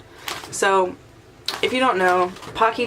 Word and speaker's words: Pocky: if you don't know Pocky chips rhymes with hockey it's not it's not Pookie it's not whatever you want to come up with it's hockey hockey chips they're the creator of